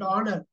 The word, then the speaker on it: honor: miss it out leika honor honor H is silent honor easy easy Lea you